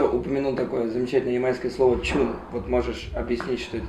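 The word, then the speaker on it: chune: То есть это, в принципе, слово для обозначения песен, просто на ямайский манер оно читается чун.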